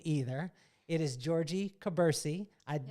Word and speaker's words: Jorgie Kubursi: going to murder your name either it is georgie cabersie i said it right yes entrepreneur businesswoman content